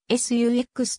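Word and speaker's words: SUX: はサックスであるこのコードは本来は 1 文字ずつ発音するものでありサックスは s ux と呼ぶよう意図されていたしかしこの 3 文字はしばしばサックスと同じ発音で呼ばれるしかしアメリカ英語に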